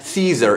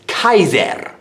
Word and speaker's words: Caesar: was Wes suyus likewise the letter C is pronounced as a K so it's not Caesar its ties n like the kaiser of the German Empire ours are going to